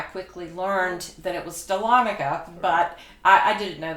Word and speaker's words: Dahlonega: a town that I wasn't sure how to pronounce upon coming here I quickly learned that it was Dahlonega but I I didn't know that then so